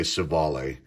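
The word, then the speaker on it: Civale: say his name aaron cevalle i think that i say chavali but people say sivali um our steadies aquino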